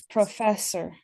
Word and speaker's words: professor: first syllable in English, but this one, professor, it's the second syllable cuz this is a Latin root word and so fess is like to say. Uhhuh. Um, so it's professor.